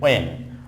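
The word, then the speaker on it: when: দেন হচ্ছে হোয়েন নট হোয়েন, ওয়েন, ওয়েন will you come, ওয়েন will হি কাম, কখন সে আসবে, ওয়েন।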